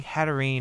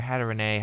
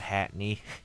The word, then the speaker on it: Hatterene: So we are using Hatterene or Hatterene, however you want to pronounce it. I know it's not Hatney.